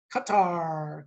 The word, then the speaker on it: Qatar: Qatar. Qatar rhymes with Caesar. Qatar, Caesar.